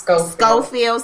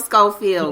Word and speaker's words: Schofield: You know, it's actually pronounced Schofield. Schofield.